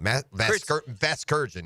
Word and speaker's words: Vasgersian: Vasgersian is how you say Kurt it.